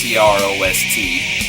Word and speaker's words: Crost: We see a name like Crost, C-R-O-S-T. It's pronounced Crost, like C-R-O-S-S-E-D.